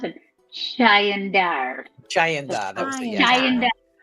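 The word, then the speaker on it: Chaendaer: They pronounced it Chayandar.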